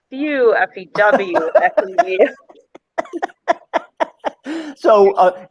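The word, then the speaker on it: feu: Well, then let's do Lynette, and we'll say it's pronounced few, but it's spelled F as in Frank, E-U.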